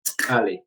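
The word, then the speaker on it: წყალი: But it's how you pronounce it. It's tkali. So they have these sounds, which is K quite and Che together.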